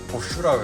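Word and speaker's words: Bosch: 이 보쉬라고 발음하는데 보슈라고 해야 돼. 보슈 보슈라 해야 돼.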